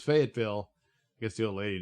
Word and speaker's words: Fayetteville: yeah oh well uh fayetteville i thought it was uh faye gitville well all right so it's fayetteville i guess the old